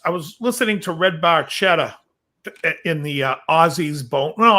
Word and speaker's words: Barchetta: i believe a ferrari barchetta an italian it's pronounced barchetta and i guess getty didn't know that till